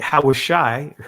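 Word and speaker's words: הושע: Hawashai, right? The ancient pronunciation of it, chapter 6, verse 1 and 2.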